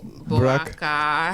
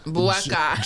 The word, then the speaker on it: Boakai: Boakai. F1. How you pronounce his last name? Joseph Boakai. Boakai. Joseph Boakai. You gotta say it the Liberian way.